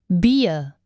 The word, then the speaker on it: Bier: Again, Bier, Handy, Regal, notice that ah sound at the end of this word. Bier. That's the easy German R.